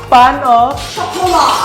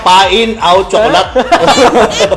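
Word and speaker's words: pain au chocolat: paanong pronunciation p pan pan o chocola pan O chocola ayan chol po pan o chocola akala ko nga pain Out Chocolate ako dati pain ito pain meron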